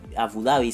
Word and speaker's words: Abu Dhabi: para a abu dhabi abu dabi se pronuncia dientes y se fue